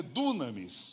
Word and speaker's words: dunamis: Eu quero trabalhar a outra palavra que é, alguns pronunciam no português dunamis, mas é dunamis no grego, que também é uma